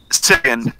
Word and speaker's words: Sivian: Sivian, how do you say it, Chris? Say it again. Sivian, you're correct.